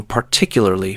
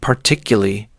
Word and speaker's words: particularly: Like how I realized I was consistently mispronouncing particularly for years until I heard myself on a recording. Oh no! What were you saying instead? I was saying particularly, completely dropping the middle part of the word.